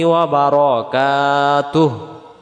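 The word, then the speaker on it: وبركاته: ওয়া রহমা, ওয়া রহমা, ওয়া রাহমাতুল্লাহ যেন না হয়, হবে ওয়া রহমাতুল্লাহি ওয়া বারাকাতুহ।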